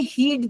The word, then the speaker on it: heed: पे first line में हीड दिया है, HEED, ये हेड नहीं है, HE। अच्छा, हेड की क्या स्पेलिंग होती है? हेड, लेकिन ये क्या है? हीड।